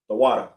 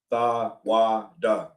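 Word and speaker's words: תודה: The water. The water. Tha, wa, da.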